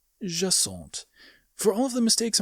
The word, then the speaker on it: Jacinthe: The ja is more or less correct, but I butchered the rest of it. Her name is Jaant. Jaant.